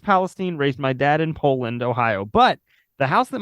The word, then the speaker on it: Poland: that's right it is how do you pronounce that one though what po nope it's just Poland okay they didn't [